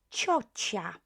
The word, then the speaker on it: ciocia: Another word, ciocia. Ciocia. Be careful, don't pronounce it as ciocia. Okay, it's soft.